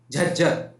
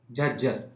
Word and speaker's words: झज्जर: तो अगेन हरियाणा का ही आपका जिला है जिसका नाम है झज्जर। क्या नाम है? स्पेलिंग थोड़ी गलत होगी भाई। इसका नाम है झज्जर। झज्जर।